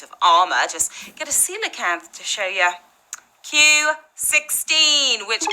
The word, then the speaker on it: coelacanth: Monkfish, caiman, coelacanth. Yeah, that's how you pronounce it, guys. Something fishy going on here. The creature in question is a coelacanth.